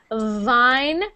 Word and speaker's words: vine: welcome when wi try Vine wine Vine Jean Mark when you make the V sound the V your teeth must they must touch your bottom lip like this Vine Vine there you go good